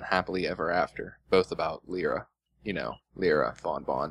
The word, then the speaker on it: Lyra: Am I the only one that thought it was pronounced Lyra? Well, it's Lyra because the name comes from lyre, which is a type of harp.